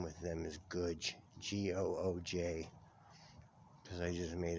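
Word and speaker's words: Gooj: gooch gooch my good just like good only with a j instead of a d it's good oh okay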